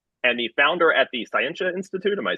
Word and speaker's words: Scientia: It's just a hard T in Scientia.